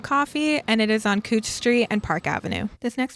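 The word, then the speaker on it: Couch Street: The next coffee shop is Good Coffee, which is on Cooch Street and 11th Avenue. Yes, I said Cooch Street. It's spelled couch. It's pronounced cooch.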